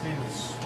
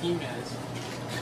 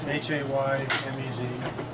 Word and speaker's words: Jemez: Welcome to the Jemez Mountains of New Mexico. Thank you. That's how you say it, Amos. Jemez, like an H.